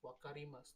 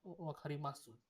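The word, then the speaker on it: 分かります: Chat is wakari mas, not wakari mas, not wakari masu, wakari mas.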